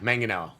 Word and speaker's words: Manganiello: Adam's gonna tell you hard G. Just the Manganiello.